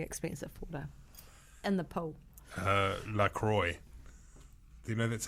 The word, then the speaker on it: La Croix: La Croix. Do you know that's how you pronounce it?